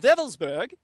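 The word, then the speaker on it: Wewelsburg: This is why Colonel Michael Aquino, during the 1980s, traveled to the Schutzstaffel Castle of Wevelsburg, spelled with W's, it's pronounced as a V in the Germanic, W-E-L-S-B-E-R-G.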